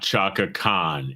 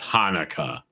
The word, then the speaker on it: Hanukkah: It is not Chaka Khan. It is Hanukkah. It is just spelled. It is spelled different ways, not pronounced different ways.